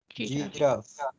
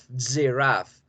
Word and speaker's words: giraffe: Giraffe. Giraffe. Entonces, siempre que vea estas sílabas en inglés, en cualquier palabra, siempre van a ser con la Y de yuca.